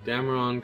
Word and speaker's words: Dameron: I say Dameron because it's spelled with an O, not an I.